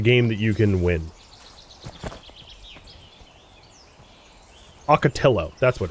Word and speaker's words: ocotillo: Ocotillo, that's what it's called.